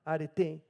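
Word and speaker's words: ἀρετή: Pero virtud es una palabra interesante, es una palabra griega, arete, como arete pero con acento en la última, arete, en la última E, y lo que significa es excelencia moral.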